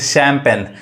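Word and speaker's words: champagne: इसको हम क्या पढ़ेंगे अब इसको शेन नहीं पढ़ेंगे शैंपेन ये क्या है एक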